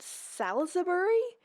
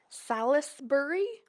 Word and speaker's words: Salisbury: Is it salbury? Salisbury. Salbury. I feel like when people say it, they say it really fast.